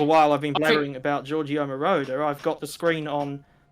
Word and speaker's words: Giorgio Moroder: oh god, I can't remember how you actually pronounce the title. Giovanni by Marauder or something like that. Giorgio Moroder.